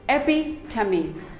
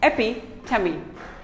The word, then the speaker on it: epitome: none of them is correct it is simply pronounced as very epitome it is not epitome it is epi tummy epi tummy epitome we all have a friend who is an